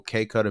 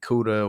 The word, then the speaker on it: KKUDDA: I'm basically everywhere with the handle K Cutter Music. So it's spelled KKUDDAMUZIC. A lot of people pronounce it Kuda or whatever.